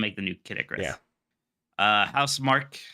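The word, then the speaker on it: Housemarque: the new yeah uh house Mark how do you say that actually yeah I always thought was how smart key but it's house mark yeah house mark uh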